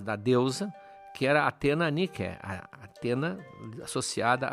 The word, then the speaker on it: Nike: foram buscar na deusa nique a mesma grafia só que a pronúncia não é a moda inglesa nique a deusa da Vitória